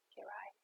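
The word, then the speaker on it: Kejraj: se nomme, qui signe en fait Kerai, qui s'écrit K-E-J-R-A-J, Kerai.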